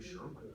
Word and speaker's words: Sherwin: Ryan, what's the first syllable of Sherwin? Sure. Sure. Yeah. Confidence. Kevin, what's the second syllable? Win.